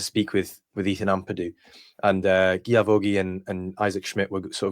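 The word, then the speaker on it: Guilavogui: And to be honest, I've not been the best with pronunciation, because I believe it's probably Guilavoghi, but I've been pronouncing the L.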